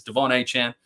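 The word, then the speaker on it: De'Von Achane: But it's Devon A-Chan. Respect his decision and his pronunciation correctly of his name.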